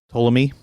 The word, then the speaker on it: Ptolemy: Well, that was the word that came to my mind when you said polemic was Ptolemy because of the silent P in the beginning.